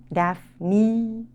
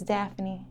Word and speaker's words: Daffini: Do people mispronounce this? All the time. Daffini. Daphne.